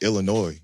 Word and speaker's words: Illinois: like a even like Illinois that's like um that's why the S is silent it's um Indian Native